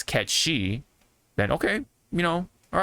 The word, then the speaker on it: Cait Sith: like that you know if people out there have heard Kate Sith they're more likely to stick with Kate Sith and I think I think we should just let it be you know what I mean but as long as they know the origin of that word or whatever or that term then I think it's fine I think if they just know that it's CET she then okay you know